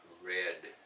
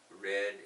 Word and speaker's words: read: Sounds, present tense is read. Sounds like read. Read. I read the book. If I read it yesterday, it's I read the book. The same words, written the same way.